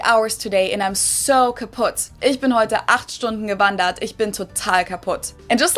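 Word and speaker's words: kaputt: We spell it with two T's in Germany, but we pronounce it the same way. Kaput.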